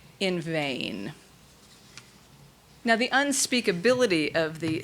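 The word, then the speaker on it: ו: V, or va, as in lava, which we transliterate as V or W.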